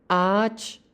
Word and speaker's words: ağaç: Cara bacanya hanya dipanjangkan. Contohnya ada ağaç, yang artinya pohon.